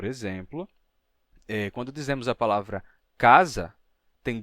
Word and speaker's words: casa: Um é um som de A e o outro é o som de A. Então, temos casa, casa, casa, casa.